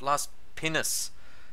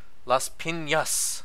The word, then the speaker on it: Las Piñas: I kept saying Las Pinas the other night, and I had my maid Ruby laughing hysterically, and she said, it's not Las Pinas, it's Las Piñas.